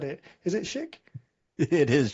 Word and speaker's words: Shick: Is it Shick? It is Shick, It is? yes. Okay, perfect. It's not a silent chic or anything like that.